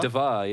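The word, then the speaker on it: D.Va: how you pronounce it is it Diva DVA yeah I think is what it is yeah no but and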